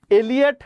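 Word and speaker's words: Eliot: দেখেন, এলিয়ট নামটি উচ্চারণগত দিক থেকে ভাবতে গেলে একটু এলিট এলিট ভাব লাগে, তাই না? নামটির উচ্চারণটা একটু এলিট না? টি.এস. এলিয়ট নামটা হচ্ছে কি একটু এলিট।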